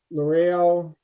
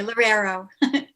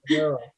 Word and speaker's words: Lorero: special permit to Loreo. I'm sorry, I'm sure I'm not pronouncing it correctly. That's okay, Lorero. Lorero. Oh, That's a tough one. It actually isn't. It's actually just like it's spelled.